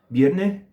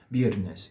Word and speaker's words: viernes: Ou você fala vierne com o S aspirado, isso é típico na Venezuela, no sul da Espanha também, né? A gente aspira o S nas palavras. Ou vocês podem pronunciar com S normal, normal e corriente, que a gente tem aqui mesmo em português, que é viernes, viernes, viernes, tá?